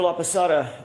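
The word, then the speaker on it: Laposata: That's spelled L A P O S A T A. Dr. La Pasada, what do you do for a living?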